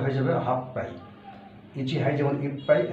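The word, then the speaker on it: 八杯: হাঁচি হচ্ছে 8, হাঁচি মানে 8, তারপরে হাই, উচ্চারণটা হয়ে যাবে হাফ পাই। ইচি হাই যেমন ইপ পাই, হাঁচি হাই হলে হাফ পাই। হাফ পাই, হাফ পাই ওয়াইন ও কুদাসাই, 8 গ্লাস মদ দাও।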